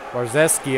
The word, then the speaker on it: Brzezinski: Brzezinski. Barzeski, I believe, is the correct pronunciation.